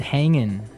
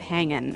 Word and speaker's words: hanging: ining right yeah but usually you don't really pronounce the G in this context cuz it's very informal so how's it hanging how's it hanging so he said everything